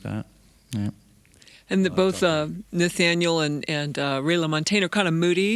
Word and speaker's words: Nathaniel: I've been listening to a lot of Ray LaMontagne lately, and Gregory Alan Isaacoff, and Nathan Ratcliffe. Is that how you say his name? Nathaniel, yeah.